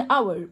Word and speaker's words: hour: خلي بالك ان hour معناها ساعه والاتش ما بنطقهوش.